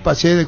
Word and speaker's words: Praxedes: Bruno Praxedes, ¿cómo se pronuncia?